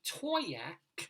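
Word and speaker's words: Towaoc: Our Colorado Limerick of the Damned, where we go to Toyac, Where? Colorado. I know, right? Toyac, that's how it's pronounced.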